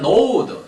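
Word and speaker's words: gnawed: Man knowed, 지가 무음입니다. 발음에 주의하셔야 돼요. 사람들은 그 혀를 깨물었다.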